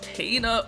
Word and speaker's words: Kena: gets more screenshots uh cana yes kana bridge of spirits gets a relatively in-depth look on game informer that's how they said her name is pronounced so we're gonna go